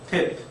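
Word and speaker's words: ט: 태 태 이렇게 항아리를 그리듯이 이렇게 그리시면 되고 우리말 티귿 발음과 같은 발 발 발음이 난다고 보시면 됐. 어떤 분들이 쌍디귿으로 발음하기도 하는데 일단 디귿으로 발음을 하도록 하겠습니다.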